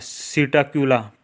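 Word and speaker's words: Psittacula: ठीक है देन अ सीटा क्यूला पी एस आई टी टी ए P silent है ठीक है ना पी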